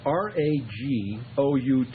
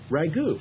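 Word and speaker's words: ragout: no but uh but r-a-g-o-u-t is pronounced ragu you see if you pronounce it rag out it sounds as if you put a rag in with the reindeer when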